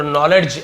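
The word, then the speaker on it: knowledge: क्या था waste नॉलेज नॉलेज यहां पर आप देखेंगे के भी आपका से साइलेंट लेटर है है ना और डी भी आपका तो नॉलेज ऐसे नहीं होगा नॉलेज नॉलेज नॉलेज यानी होता है ज्ञान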